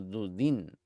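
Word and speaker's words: דודים: Aquí, Misajín, el rabino Isaac dijo: no lo pronuncien dudaín, mandrágoras, sino dudín, amantes.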